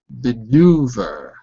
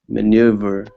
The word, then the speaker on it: maneuver: the one we said earlier uh menu over maneuver maneuver good so look at the IPA symbols meu maneuver maneuver that's it it's spelled in a funny way but it's pronounced